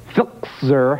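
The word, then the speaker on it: Filczer: this country, and this could not make Lou Filzer happier. How do you pronounce that?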